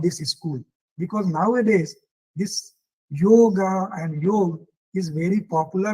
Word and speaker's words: yoga: which is known as yoga or which is founded by panjali so this is originally known as yog but we pronounce is it as yoga and this is I